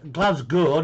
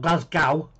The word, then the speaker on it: Glasgow: And in Scotland, it's Glasgow, not Glasgow.